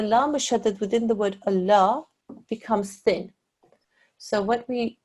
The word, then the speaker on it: Allah: on to this example here there is the word Allah just before it there is alarm with a what is this stroke Gaara well done okay because that's a cursor this la mouche added here within the word Allah becomes thin sound okay so we read